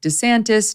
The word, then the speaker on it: DeSantis: be dasantis desantisantes but a lot of Italians make it a little bit more Americanized and Mike could just go with DeSantis no one really knows